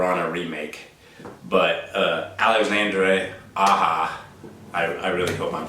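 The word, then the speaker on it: Aja: gone wild so back in 2010 director Alexander aha Alexandra AHA let's let's pronounce it correctly decided to reimagine a classic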